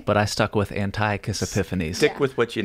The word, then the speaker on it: Antiochus: me, frankly, when you called, you have to pronounce his name for me, the Greek guy, Antiochus. Oh, there are, there are like two different pronunciations for both of his names, but I stuck with Antiochus Epiphanes.